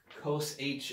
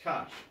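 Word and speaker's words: cosh: let's pronounce cash x i keep saying cos h in my head i don't know why it's pronounced gosh i'm sorry so we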